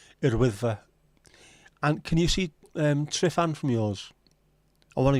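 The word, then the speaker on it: Tryfan: Unfortunately, single F is a V. Trifan, is that right? Am I saying it right? I have to remember this. F is a V. As opposed from Dutch where a V is an F.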